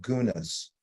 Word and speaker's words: guna: those modalities I talked about they're also called gunas this will be on the test by the